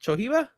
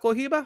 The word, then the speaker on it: Cohiba: That's how you say it, Chohiba. No, that's Cohiba.